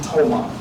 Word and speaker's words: Tomah: He immigrated into the Menominee tribe, and they pronounced his name Tomah.